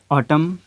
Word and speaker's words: autumn: अब यहाँ पे देखें कि N से पहले जब भी M आएगा तो क्या होगा कि N जो है वो साइलेंट हो जाएगा, उसकी अपनी आवाज़ नहीं होगी।